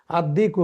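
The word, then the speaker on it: الدِّيك: তারপরে যেমন এখানে আল জান্নাতু জিম যেহেতু হরুফে কামারি লামটা এখানে উচ্চারিত হয়েছে আদ্দিকু দাল যেহেতু হরুফে শামস এখানে দালের পূর্বে লামটা কিন্তু উচ্চারিত হয় না আদ্দিকু তারপরে হাফে কামার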